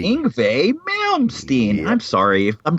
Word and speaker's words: Yngwie: It's Yngwie, like a V. Yngwie Malmsteen.